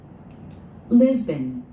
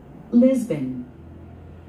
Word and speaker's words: Lisbon: Lisbon, Lisbon, 리스벤. 스트레스 맨 앞에 있습니다. 리스벤. Lisbon, Lisbon. 우리 한국 사람들은, 한국인들은 이걸 리스본이라고 그러죠. 리스본. 포르투갈의 수도 리스본. Lisbon, Lisbon.